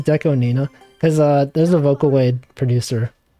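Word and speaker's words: DECO*27: Most people say Deco 27. And I usually, if I'm in chat, I'll be like, streamer, did you know the 27 is pronounced Nina? Because in Japanese, the 2 can be pronounced Ni, and the 7 can be like, it's Nana.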